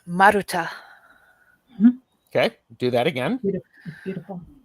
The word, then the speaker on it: Maruta: Well, I guess the one thing I'd like to do is pronounce my name. Yes. It's Maruta. Okay, do that again. Beautiful. Maruta.